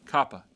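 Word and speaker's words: kappa: go to the board and notice how this Copa is made just like this okay just like that okay Kaa c c c all right go back to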